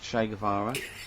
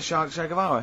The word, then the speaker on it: Che Guevara: Che is like shake, and his surname is like guitar.